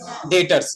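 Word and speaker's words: debtors: यहाँ ध्यान दीजिए, हम लिखते डेप्टर्स हैं लेकिन पढ़ते डेटर्स हैं, डी साइलेंट होता है।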